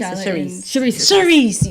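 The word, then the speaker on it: Charrisse: Clarice? Charisse, yes.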